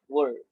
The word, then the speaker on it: were: Kenapa jadi were? Beda dengan where. Where itu di mana? Ini were. Jadi cara pronounce-nya were.